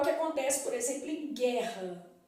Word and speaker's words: guerra: então é o que acontece por exemplo em guerra o é bu não falo guerra né então